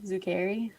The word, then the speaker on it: Zuccari: Um, my significant other, Andrew Zuccari. Oh, that's how you Yeah.